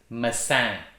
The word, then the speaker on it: maçã: having several diacritical marks for example apple is messiani and without those little uh lines there it's